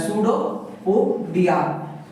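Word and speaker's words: pseudopodia: जाता है should पोडिया इसमें जो बच्चों पी वर्ड होता है साइलेंट होता है सूडो पोडिया और इसने क्या किया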